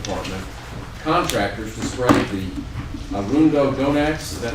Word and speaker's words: Arundo donax: Parks and Wildlife Department contractors to spray the Arundo Donax. Is that how you say it? Close enough. Arundo? That's good. Arundo, yeah.